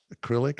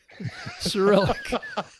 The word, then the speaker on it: Cyrillic: It's not in what is it, acrylic or something, or not acrylic? It's acrylic, Cyrillic. You were close. It was close.